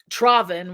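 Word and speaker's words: травень: I'm like, so it has you here like May, Travin, which would be how you would say the month of May in Ukrainian.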